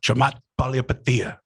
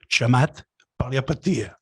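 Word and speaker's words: Chamath Palihapitiya: was, but also the fact that he could pronounce the person's name. So if you can, please, Chamat Palihapitiya. one more time for the people. Chamat Palihapitiya.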